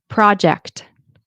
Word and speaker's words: project: I know my French speaking clients as well. They'll say the C sound, but not the T.